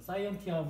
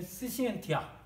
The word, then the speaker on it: scientia: 그러니까 사이언티아 이렇게 읽어도 될 것 같은데 근데 라틴어 발음으로는 이제 스시엔티아 뭐 이런 식으로 발음한다고 합니다.